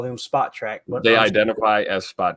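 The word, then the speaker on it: Spotrac: The name is pronounced Spot Track.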